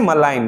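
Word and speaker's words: malign: Next है मलाइन।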